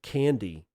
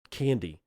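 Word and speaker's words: Candey: Wait, Candy? Well, it's spelled C A N D E Y, but it's I guess it's pronounced Candy.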